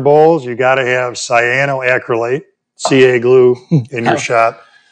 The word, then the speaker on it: cyanoacrylate: And if you're going to, I think, turn bowls, you got to have cyanoacrylate, CA glue, in your shop.